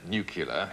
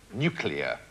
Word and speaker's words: nuclear: it's not actually pronounced nucular it's a nuclear as in the word uh nucleus of an atom the nucleus yeah no